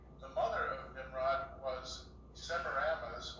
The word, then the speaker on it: Semiramis: The mother of Nimrod was Semiramis, or some pronounce it Semiramis, and she was an actual daughter, not a granddaughter, of Japheth, or Japheth.